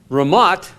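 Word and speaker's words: רמת: of ancient Israel and of the modern nation-state Ramat and the th in Hebrew is pronounced in Hebrew has it just a hard T sound Ramat means heights the heights of Gilead is the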